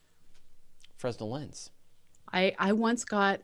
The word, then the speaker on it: Fresnel: considered a valid pronunciation I said Fresnel lens and people give me a hard time in a recent episode apparently according to the internet for Nell and Fresnel are equally valid ways to pronounce Fresnel